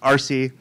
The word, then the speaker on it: ARCE: I'm the president of the New England chapter of the American Research Center in Egypt, or for short, ARCE, usually pronounced RC.